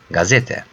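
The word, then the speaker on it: gazete: let's continue gay gay how you pronounce the word good in English good yeah so this is same Gazette a gay Gazette a gay Gazeta and Gazeta means newspaper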